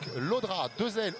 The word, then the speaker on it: Llodra: nom l'orthographe précisément alors c'est donc lodra dera et comme papa est espagnol ça se prononce à l'espagnol et comme vous l'avez fait depuis tout à l'heure bien sû de façon parfaite c'est la raison pour